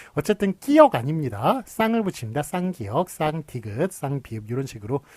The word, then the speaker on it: 쌍기역: 그래서 쌍기역, 쌍디귿, 쌍비읍, 쌍시옷, 쌍지읒 이런 식으로 하는데 예, 그래서 이제 끼역이라고 그렇게 읽으면 안 되는 거죠. 쌍을 붙여가지고 쌍기역이라고 읽어야지 끼역이라고 그렇게 읽으면 안 되겠습니다.